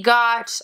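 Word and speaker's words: 悟: Later, he changes the symbol to pronounce Go, which is Goku's own kanji.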